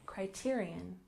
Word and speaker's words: Criterion: other languages for example Criterion where we stress the second syllable Criterion Criterion the plural becomes